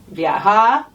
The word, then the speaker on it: viajar: So it's viajar with that v that sounds a little bit like a b. Viajar.